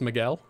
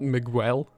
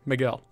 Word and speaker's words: Miguel: carries around 30 sailors that's not how you pronounce miguel okay how do you pronounce miguel and if you give me sass i'm just gonna start saying michael i won't actually but oh is it just miguel not miguel okay miguel at the same miguel